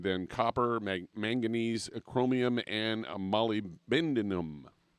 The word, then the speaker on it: molybdenum: copper manganese chromium and molybdenum molybdenum there there that's the right way to say it you can use it for sure you can call it molly a lot of people